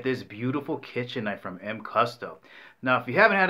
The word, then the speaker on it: MCUSTA: name of a company here pronounced M custa It's a combination of